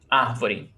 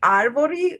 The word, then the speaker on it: árvore: In this case, when I have this situation where you have R and another consonant, where I come from, we do the aspiration.